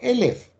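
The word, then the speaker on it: אלף: Und das ist jetzt, das wird normal Aleph ausgesprochen, aber dasselbe Wort ist eben auch Elef. Und sobald ich das Elef ausspreche, dann heißt es halt unendlich viel.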